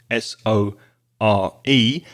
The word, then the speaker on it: sore: So you can have a sore throat, S-O-R-E, the same pronunciation as the past verb see, I see, I saw, sore, S-O-R-E.